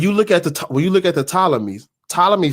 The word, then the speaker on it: Ptolemy: Is it Ptolemy or Ptolemy? God damn it, I've been saying it wrong. Ptolemy.